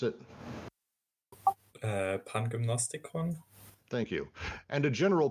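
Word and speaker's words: Pangymnastikon: Lou, how do you pronounce it? Pangymnostikon.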